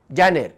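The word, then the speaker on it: Janer: Spelling पळया, जे ए एन ई आर, जानेर, जानेवारी.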